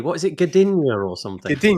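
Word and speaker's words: Gdynia: I've been to the unpronouncable word camp that I can never say. What is it? Gadina or something. Gadinia.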